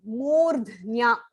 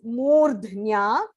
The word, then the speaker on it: मूर्ध्न्या: So you can split it as murdhnya dhayatmana. So when you say it together, murdhnya dhayatmana pranam. Murdh, the ir has to be pronounced first. Murdhnya, and there is a mahaprana id there.